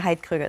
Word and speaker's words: Heidkrüger: Diane Heidkrüger is how you say it in German.